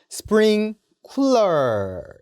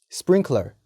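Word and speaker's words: sprinkler: 물이 나오는 장치가 있죠 스프링 쿠라 이라고 잘못 알고 계시는 경우가 있습니다 스프링 쿨러가 아니라 스프링 코랄 스프링클 r 이라고 읽어주시면 됩니다 스프링클 r u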